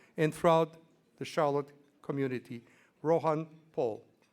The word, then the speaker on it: Rohan: throughout the Charlotte community, Rohan Paul. And I'm mispronouncing his name. It's Rohan.